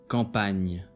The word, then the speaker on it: campagne: GN is pronounced as Gn, as an English word onion. Campagne.